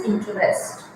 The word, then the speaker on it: interest: word is in TR actually you pronounce this word in trust it is not UST you pay attention to me it is interest interest interest when you